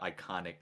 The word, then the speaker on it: Ikaanic: um and that's where that's where kind of iconic comes from right like it's khan and icon that's how you spell it yeah um so